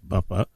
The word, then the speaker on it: Buffa: This is Conversations on the Coast, and our guest today, properly pronounced, is D.W. Buffa, and the title of the book is Breach of Trust, another Joseph Antonelli novel.